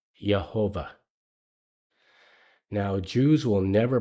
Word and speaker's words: Yehovah: And if you read it with the way the vowels are in there now, it would probably be pronounced Yehovah.